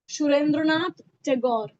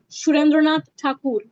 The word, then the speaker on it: Surendranath Thakur: Surendranath Tagore or Surendranath Tagore. In Bengali, his name would be pronounced as Surendranath Thakur. Surendranath Thakur.